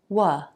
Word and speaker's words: what: The word what is simply wa.